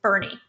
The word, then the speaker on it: Boerne: Boerne is Bernie, Mhm. and not however else anyone wants to pronounce it.